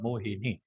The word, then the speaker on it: मोहिनी: तो यदि वहां पे वेलांटी नहीं है तो कर लीजिए ह्रस्व वेलांटी है, मोहिनी। नी दीर्घ है।